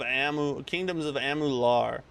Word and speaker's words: Amalur: Kingdoms of Amular. Oh, that's how you say it. Kingdoms of Amular.